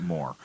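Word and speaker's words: Mohr: I'm pronouncing it Moore.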